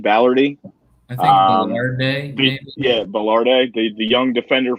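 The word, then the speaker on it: Balerdi: bolidari from uh dortmund yeah how do you pronounce that ballardy ballardy yeah ballard the young defender from dortmund which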